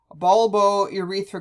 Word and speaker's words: bulbourethral: Now, the last one sounds tricky, bulbourethral gland, but if you divide it into the syllables, you have bulbo, which sounds like bulb, and urethra, which makes sense because it's the bulb that joins the urethra.